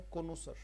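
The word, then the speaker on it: connoisseur: तो कोनोसर पढ़ा जाएगा, उच्चारण है कोनोसर, कोनोसर, कोनोसर, कोनोसर। र भी दे सकते हो, अ भी दे सकते हो साउंड लास्ट में।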